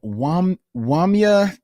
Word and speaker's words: Wamya: We received an email from Wamya Tembo. Hey, Wamya? Wamya, W-A-M-Y-A. Hey, Wamya. Tembo, T-E-M-B-O. Okay. So hopefully I am pronouncing that correctly.